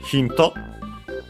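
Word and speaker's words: ヒント: Then we have hinto. Of course, from English, hint. Let's see its accent. Yes, it's accented as expected, just like in English, so the first syllable, hinto.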